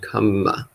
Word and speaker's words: kamma: So kama and kamma. So kama is sensuality. Kamma is action. Karma. Is it spelled the same? No. How is it spelled? So K, A with a line over, M-A. So kama, sensuality. And then K-A-M-M-A, kamma, action.